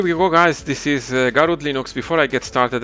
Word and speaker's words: Garuda: having said that also garud is pronounced garud instead of garuda as i did in